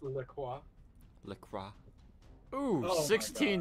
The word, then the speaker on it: LaCroix: It's pronounced Le Croix.